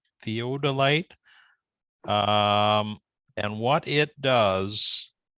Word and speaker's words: theodolite: one right there's an app called Theo Delight theodolite theodolite um and what it does is it's like